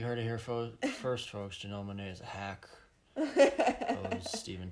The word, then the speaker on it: Janelle Monáe: Janelle Monáe was in it. Yeah. That's how her name is pronounced.